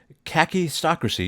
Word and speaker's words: kakistocracy: Larin uh welcome to khaki stracy you were right the first time when you said that that's how you pronounce it um how are you